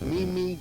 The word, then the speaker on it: Mimi: a stickler you know i mispronounced her first name i thought it was mimi and it's mimi all of her fans called me and they all complained they said it's me me not mimi so from now on